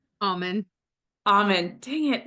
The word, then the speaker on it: Auman: say that right alen almond dang it it's like almond but without the D Alm well without the l2o technically but it sounds like it almond almond uh thank you for